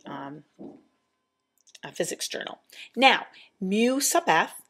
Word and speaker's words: mu: what this symbol is it's a Greek symbol and it's pronounced mu mu mu and all mu